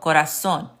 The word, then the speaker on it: corazón: Learning to recognize the pattern that the Spanish Z indeed sounds like the American S. So corazón, zapato.